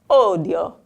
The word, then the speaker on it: odio: I hate, but it had the enunciated sound. So, odio.